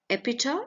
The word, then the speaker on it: epitaph: And epitaph. Epitaph is A-P-I-T-A-P-H. You will not be pronouncing it as fur in the end. It is epitaph.